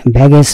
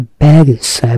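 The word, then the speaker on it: baggage: ব্যাগ এন্ড ব্যাগেজ, ব্যাগেজ না, উচ্চারণটা ব্যাগেজ। ব্যাগেজ মানে হচ্ছে মালপত্র, পোটলা, লটবহর।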